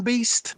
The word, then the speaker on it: Beaste: Is it pronounced Beast? I've only ever read your name, Beast. Yeah.